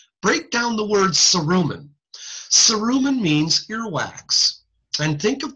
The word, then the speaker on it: cerumen: Cerumen means earwax. And think of the word cerumen. I'll stop sharing for a second. Cerumen rhymes with, is close to the word sincerely.